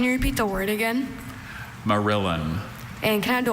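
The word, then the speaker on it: morillon: Marillin. Can you repeat the word again? Marillin.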